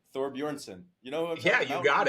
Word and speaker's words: Thorbjornsen: is thoron that's the the mountains full name Thor Boron you know yeah you got it that was actually really good pronunciation maybe you're you're doing introductions next time